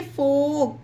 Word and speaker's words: folk: TALK, टाक, FOLK, फोक, YOLK, योग, CHALK, चाक, वाक, टाक, फोक, योग, चौक, ये सारे वर्ड में के से पहले एल है, इसीलिए एल साइलेंट है।